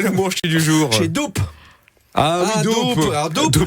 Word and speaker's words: doupe: Chez Doupe. Ah oui, doupe. Alors, doupe, je savais pas dire double, hein, qu'on aurait oublié de prononcer la fin, comme on dit un trip, hein, quand on veut commander une bière normale.